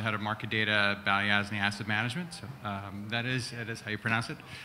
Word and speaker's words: Balyasny: I am the head of market data at Balyasny Asset Management. So, that is how you pronounce it.